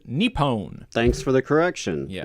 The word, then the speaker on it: Nippon: I have been chastised by a friend on my pronunciation of Nippon. Nippon. Oh. That's how you pronounce it. Nippon.